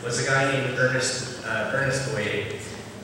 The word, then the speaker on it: Boyer: a guy named Ernest Boyer, although he pronounces it Boyer, American pronunciation, but it's Boyer.